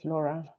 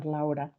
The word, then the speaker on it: Laura: go ahead hi hello my name is Laura or laa as I want to pronounce it um I have a